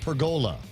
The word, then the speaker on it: pergola: According to Smug Wimp, the word is pronounced pergola.